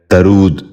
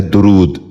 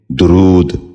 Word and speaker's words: درود: غور سے سنیے، درماندگی۔ ساتواں لفظ ہے درود۔ یہ غلط تلفظ ہے، اس لفظ کا درست تلفظ ہے درود۔ غور سے سنیے، درود۔ بچوں آپ بھی غور